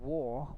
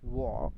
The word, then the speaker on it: war: And war war R will be silent. War in Ukraine. war in Ukraine because uh the R if it come at the end of the verbs um it will be silent it won't be pronounced in our P accent has reduced the